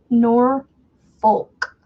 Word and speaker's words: Norfolk: I don't like saying it because it ends up making me say a naughty word at the end when I get to saying it. Norfolk is how I would pronounce it.